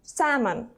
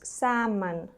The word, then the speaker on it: salmon: the redfish so again salmon pay attention we don't pronounce the letter L so it's salmon ok next one is